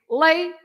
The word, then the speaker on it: leite: accents, like for example, the word leite for milk, right? Yep. What do? You have to split the word into syllables, into different sounds. In this case, leite. You have two syllables, right? Yep. And you have to stress the first part. You have to say lay and then to, right? So you stress the one before the last.